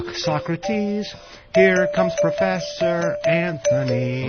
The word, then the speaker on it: Socrates: and Socrates Here Comes Professor Anthony I love and they have to put the accent on the wrong syllable too Socrates just to make it Rhymes yeah why it works